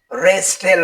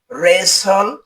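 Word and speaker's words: wrestle: ডাবলিউ আর ই এস টি এল ই এর উচ্চারণ রেস্টেল হবে না এর উচ্চারণ হবে রেসল যার অর্থ হল কুস্তি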